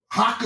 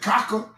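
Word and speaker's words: Chakah: Haka is wisdom. You don't pronounce it Kaka. You pronounce it haka.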